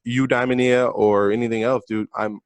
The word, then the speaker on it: Eudaimonia: Eudaimonia.